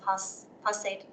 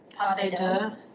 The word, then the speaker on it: Posada: Okay, so then the next one, how do you say this? Posade? Posada. Yes.